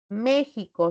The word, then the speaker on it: México: s para la Z para la x no México xilófono y taxi se escriben con la letra X pero su representación